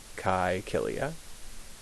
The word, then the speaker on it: Caecilia: That's how the AE is pronounced, like an I. Caecilia.